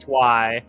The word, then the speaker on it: Twi: Basically taking Twilight, chopping off the end of that just to be Twi, which is why it's pronounced Twi.